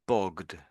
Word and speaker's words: bogged: So this one is bogged. Bogged. So this is a duh. This this is an ed again. This time it's a duh sound.